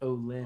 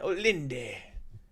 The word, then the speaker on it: Olinde: Olind is pronounced Olind. Olind. I thought it was. But I keep wanting to add the Olinde.